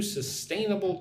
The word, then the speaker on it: sustainable: Put the emphasis on the second syllable.